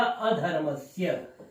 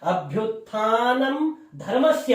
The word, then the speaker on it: अधर्मस्य: तो ये बन जाएगा अधर्मस्य। इसको पढ़ने में लोग बहुत गलतियां कर देते हैं, अभ्युत्थानम धर्मस्य ऐसा इसका उच्चारण कर देते हैं, जो कि गलत है, अर्थ को बदल देता है पूरी तरीके से।